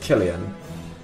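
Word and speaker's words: Cillian: on Batman roles okay it's pronounced killan maybe you should not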